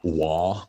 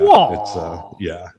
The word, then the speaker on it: Roy: Was it with Patrick Roy, who is pronounced Waugh. Patrick Waugh? Yeah, Waugh.